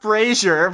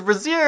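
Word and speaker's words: brazier: tragically burning to death I think it's pronounced Frasier because brassiere is something else Frasier then plug me I actually like the idea that it was a brassiere but my mr.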